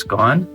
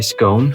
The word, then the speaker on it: scone: is a very sweet you pronounce it's gone i says gone uh some people say scone so it's s-c-o-n-e right yeah yeah okay and i say it's gone but other people will say scone i'm not sure if